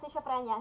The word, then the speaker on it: schizophrenia: So, what are the symptoms of having a schizophrenia?